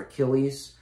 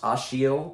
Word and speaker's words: Achilles: that is the character achilles which is actually pronounced ashiel because they're in rotterdam and achilles is in